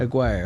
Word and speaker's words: Aguirre: the choices bill lambert isaiah thomas or mark aguiar is that how he pronounced the last name mcguire aguirre okay let's see billye who did the pistons